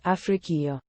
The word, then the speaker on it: Ifriqiya: Arabic Africa, feminine noun, and Ifriqiya, now usually pronounced Afriqiya, feminine.